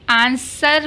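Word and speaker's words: answer: अब देखिए आंसर, अब इसको हम आंसर भी पढ़ देते हैं बहुत सारे लोग, आंसर हो सकता है बट आंसर नहीं हो सकता क्योंकि यहाँ पर डब्लू साइलेंट है।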